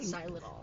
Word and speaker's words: xylitol: Why are we talking about how do you pronounce it? Xylitool.